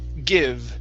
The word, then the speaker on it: give: Okay, use a short I sound. The word is give. Try that. Give. Okay, give me a V sound there at the end.